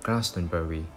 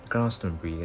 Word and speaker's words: Glastonbury: 音節的，即是说他们不会读做 Glastonbury，他们只是读成是 Glastonbury 的。